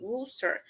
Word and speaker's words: Worcester: um such as uh Worcester the name of English city which too many students surprises pronunciated like exactly Wooster so and it's important